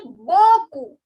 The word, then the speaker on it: beaucoup: So if you want to say thank you very much, you can say merci beaucoup. Beaucoup. The last P is silent.